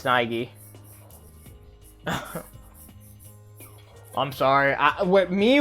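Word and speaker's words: Naegi: could go here yet n not actually it's Nigi I'm sorry I with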